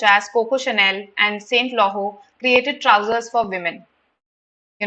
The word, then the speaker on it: Laurent: Okay, so Chanel and Saint, this is pronounced as Laurent, created trousers for women.